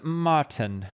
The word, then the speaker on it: Martini: Yes, my name right now is Martin. Spelled You got- Martini. Martini. Martin. The I is silent.